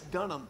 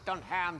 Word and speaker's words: Dunham: mispronounced my last name I know it's Dunham not when you look at it it says don't ham just on hand ah you're the other white knee don't confuse everyone it's Dunham it says